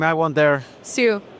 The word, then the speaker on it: Siu: Siu. Siu. Simple. I always butcher the last name, so I was like, Okay, I please appreciate you asking.